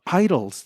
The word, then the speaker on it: IDLES: I thought you meant like just idols in general, like Billy Idol. No. The great idols of the world. So idols, how do you spell it? IDLES. Idols, as in you're idling your car.